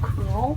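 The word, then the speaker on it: Krewl: It's called Cruel, Is that what it is? and it's spelled like K-R-E-W-L.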